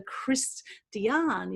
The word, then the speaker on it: Christiaan: We have an amazing guest speaker for you tonight, which is Dr. Christiaan, is how you pronounce it, Christiaan, or Chris.